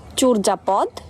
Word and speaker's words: চর্যাপদ: আর যদি অন্তস্থ জ থাকে তাহলে ও এর মত উচ্চারণ হবে। যেমন চরজাপদ, মর্যাদা, পর্যায়।